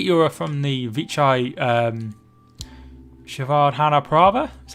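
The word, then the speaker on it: Srivaddhanaprabha: i take it euro from the vichai um shavard hanaprabha is how it's pronounced stream that was a long time ago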